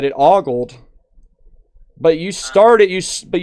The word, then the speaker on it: OLED: But you started you but you started with ogold. Ogold. Yes, I understand now. Uh oled can sometimes be pronounced like a gold where the first syllable sounds like a uh it's definitely one